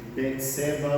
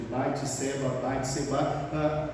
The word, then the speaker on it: Bate-Seba: Uns a chamam de Betseba, outros de Batseba.